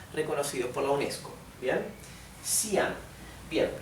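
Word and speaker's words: Xi'an: por la UNESCO bien sian bien ya saben entonces que la x se pronuncia s sí la y se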